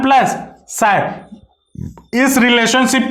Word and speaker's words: chi: इसको ये जो सिंबल है इसको साई से रिप्रेजेंट किया जाता है, CHI इसका सिंबल का स्पेलिंग है, और सायर इसको प्रोनाउंस करते हैं।